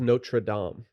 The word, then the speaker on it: Notre Dame: why golox junior went it's pronounced notre dame did his dad not